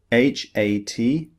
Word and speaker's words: hat: This is the longer vowel, but sometimes the letter A represents the shorter sound, as in hat, H-A-T, hat.